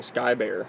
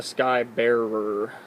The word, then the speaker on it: Sky Bearer: sounds like you're saying Sky bear like it's like one of the long lost Care Bears or something but uh the name is actually the sky Bearer so if you really dig in and say it right it makes sense but uh yeah that